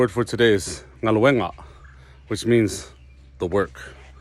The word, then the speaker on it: galue: Samoan words is to emphasize the second to the last syllable. So when you take the word galue, the second to the last syllable is the u, right? Galue. So that's galue.